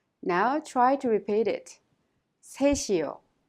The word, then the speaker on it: 셋이요: The final consonant 시옷 in 셋 of 셋이요 is prolonged and connected to 이요 and is pronounced 셋이요. Now try to repeat it. 셋이요. 셋이요.